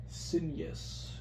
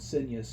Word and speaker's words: Cygnus: Cygnus. Like the Rush song. Cygnus. I believe the G is silent. It's a Greek word, I think. Or Latin. I don't know, it's an old word.